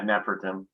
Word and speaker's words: Nefertum: Is it Nefertum? Yeah, Nefertum.